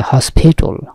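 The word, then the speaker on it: hospital: কোথায় হয় হসপিটাল হসপিটাল আমরা হাসপাতাল বলি ইংরেজির উচ্চারণটা হচ্ছে হসপিটাল হসপিটাল মানে কি হাসপাতাল হাসপাতাল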